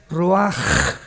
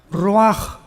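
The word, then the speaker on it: ruach: en el hebreo es Roach. La CH en el hebreo es como J, Roach, que significa espíritu.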